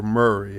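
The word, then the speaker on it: Maury: So, is it Mari or Murray? How do you pronounce it?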